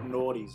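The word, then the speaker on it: Gnawty: They're actually called naughties, bro. Not beaver. They're called naughties. Very, like... very naughty. Yeah, but it's spelt with a G. Naughty? It's spelt with a G. Or naughty. Like naughty. Like spelt with a G-N.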